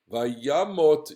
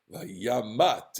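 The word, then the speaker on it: וַיָּמָת: And then we get the pre-transition, Vayamot Yosef, and I have to point out that Jonathan always corrects me when I say Vayamat. It's not Vayamat. It's always you always pronounce a kamatz katon, Vayamot.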